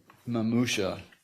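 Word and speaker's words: mamusia: What does the term mamusha mean? If I'm pronouncing that correctly? Yes, you are.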